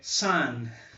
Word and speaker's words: sun: Vocês lembram que filho em inglês é son? E sol em inglês é sun. Porém, é escrito S-U-N. A pronúncia é a mesma.